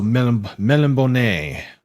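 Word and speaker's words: Melniboné: that's how it is but it's french so melimbone i believe is how it would be said melon bone i'll just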